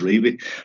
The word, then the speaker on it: Revie: But honestly and truly, and I've spoken with family members of Don's, and the answer has always been, yes, it's pronounced Revie.